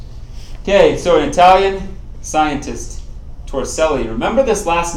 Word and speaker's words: Torricelli: you say that yes so how you would pronounce it tor Sally ok so an Italian scientist torricelli remember this last name ok you're going to